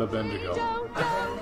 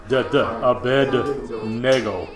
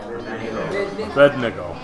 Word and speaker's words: Abednego: No, not Abednego. There's no bending in that word. Okay? It's Abednego. Abednego. Okay. Abednego.